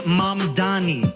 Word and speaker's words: Mamdani: And furthermore, the name is Mamdani. Mamdani.